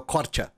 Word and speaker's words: Korça: A C cedilha em albanês é o ch, então é o Korça.